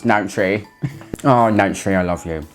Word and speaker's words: Nanshe: And whenever I say Nanshe, it makes me giggle inside a little bit because I think of the female name Nancy, but just pronounced Nanshe.